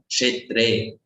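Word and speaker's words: क्षेत्रे: K and S with the dot. So it's pronounced as ksha. Kshetre.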